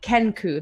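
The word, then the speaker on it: Kenku: looking I want to make sure I'm pronouncing this correctly ken ku that's the name of the race right yes yeah a very kind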